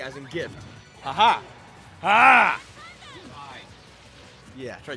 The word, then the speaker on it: GIF: now but it's pronounced gift s see it's a g sound graphic has has a hard G so it's gift it's not J yeah see there you go GIF like Jiff like the peanut butter